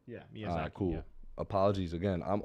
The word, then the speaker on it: Miyazaki: How you pronounce his name? Because I'm going to butcher it. Hayao Miyazaki? Miyazaki. Yeah, right? Yeah, Miyazaki.